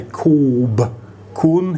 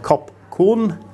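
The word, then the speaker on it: ขอบคุณ: When they tell you the Thai word for thank you, they will say koob kun instead of kop kun.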